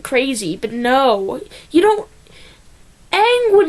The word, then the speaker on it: Aang: That is not Aang. That is not Aang at all. That is Ong, not Aang, okay?